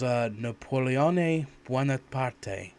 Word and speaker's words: Napoleone Buonaparte: if I remember this rightly, and I can pronounce it properly, hopefully, was Napoleone Buonaparte.